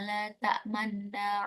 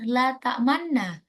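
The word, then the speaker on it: لا تأمنا: Jadi pada saat kita membaca tasydidnya, itu mulutnya dimonyongkan. La ta'manna. Begitu ya. Kita kita coba lagi. Bismillahirrahmanirrahim. Qalu ya abana malaka la ta'manna ala Yusuf wa inna lahu lanasihun.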